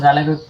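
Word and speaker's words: ذال: লাল জিবের আঘাত দাঁতের আগালের লাগাইতে হবে। তখন জালের উচ্চারণটা আসবে।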